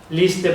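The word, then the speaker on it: Líster: película sobre el general Enrique Lister, se titula Lister, pronunciado Lister.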